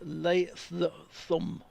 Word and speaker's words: Latham: Anthony showed me the surname Latham, as in New Zealand, is pronounced Latham. Latham. Latham? Well, they've gone on the third. It's Latham, rather than we'd say just run it all together, so it's almost like two words.